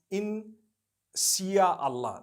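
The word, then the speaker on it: insya Allah: malay language they write in sia allah the s-y-a they pronounce it they pronounce the s-y the way we pronounce s-h so they can write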